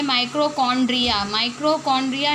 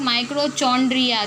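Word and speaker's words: mitochondria: देखें, सबसे फर्स्ट है एंडोप्लाज्मिक रेक्टिक्यूलम, फिर है गोल्जी कॉम्प्लेक्स, फिर है माइक्रोकॉन्ड्रिया नॉट माइक्रोचॉन्ड्रिया, दिस इज़ माइक्रोकॉन्ड्रिया, फिर है प्लास्टिड्स, फिर है सेंट्रियोल्स, फिर है राइबोसोम्स और फिर है वैक्यूल्स।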